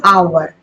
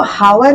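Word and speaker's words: hour: एन आवर मैंने हम लोग इसको हावर नहीं बोल रहे हैं ना।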